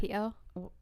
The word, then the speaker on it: Waipio: The mom posted on Reddit, she said, to my son, Kyle Brittain, missing without a trace in Waipio Valley area. Waipio?